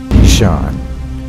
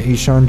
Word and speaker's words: Ihsahn: have named my cat after the one the only Deshawn apparently he son dropped a new video